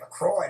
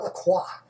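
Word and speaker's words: LaCroix: This brand of fizzy water originated in Wisconsin and its name rhymes with enjoy. So stop trying to sound French when you say it. Paul, what is Lacroy? Lacroy, not Laqua.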